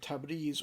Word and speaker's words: Tabriz: The penultimate letter is either pronounced E or A, and the older classical pronunciation of Persian would be Tabriz. So people from South Asia, places like India, Pakistan, Bangladesh, always say Tabriz. Modern Iranian pronunciation is Tabriz.